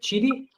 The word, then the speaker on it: Tshidi: tell us a man to your name Creek Chitti yes perfect I think you what what are the other pronunciations of okay cool tell us what's happening